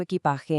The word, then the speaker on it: equipaje: The G in a word like equipaje is a really soft sound, almost like the H in the English word hello.